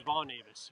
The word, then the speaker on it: Von Avis: From the, How do you say your last name? Avis or Avi? my last name was Von Avis.